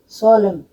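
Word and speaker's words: solemn: सोलम, मतलब एम एन है तो सोलम हो गया।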